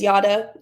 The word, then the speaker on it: Jara: So, like I said, my name is Yada. It is spelled Jara, but it's pronounced Yada, like yada, yada, yada.